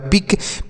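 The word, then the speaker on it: pick: के से लिखेंगे क ये जो सी के होता है ना अगर एक साथ हो तो इससे हम क लिखते हैं और कुछ नहीं लिखेंगे केवल क लिखेंगे सी के अगर एक साथ होता है तो यहां पर है सी के तो क लिख देंगे आई है तो छोटी ई की मात्रा तो ये हो गया पिक पी आई सी के पिक पढ़ेंगे पी से प सी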